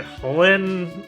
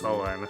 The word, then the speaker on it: Holin: If I cleared Chapter 2 Arena, I get Holin, aka, which is spelled like Chulain but is pronounced Holin, huh?